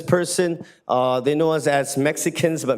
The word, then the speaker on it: Mexica: But my point as an indigenous person, they know us as Mexicans, but Mexica is the correct way to say Mexicano.